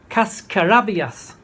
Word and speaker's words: cascarabias: And she taught me that the word is, and I'm going to pronounce it correctly, I believe, cascarabias.